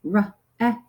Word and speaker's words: wreck: And then this word, again, don't pronounce that W, wreck.